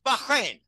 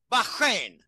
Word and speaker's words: Bahrain: And, you know, we don't pronounce it right. It's Bahrain, Bahrain, Bahrain.